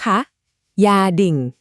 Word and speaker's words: gia đình: คำ ว่า ออก เสียง ตาม ครู นะ คะ ยาดิ่ง อีก ครั้ง นะ คะ ยอด เยี่ยม ค่ะ คำ